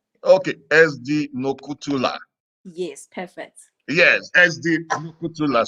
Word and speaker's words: Nokuthula: SD, how is it pronounced? You're trying. What's It's it? SD Nokuthula. Okay, SD Nokuthula.